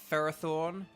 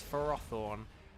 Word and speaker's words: Ferrothorn: level 60 excellent okay ferrothorne or Ferrothorn it should be ferrothorne but it's farrothorne um we're gonna use the